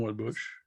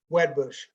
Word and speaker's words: Wedbush: That would be Woodbush. Okay. How do you pronounce that? Wedbush, Twedbush. Thank you. Wed. It's Wedbush.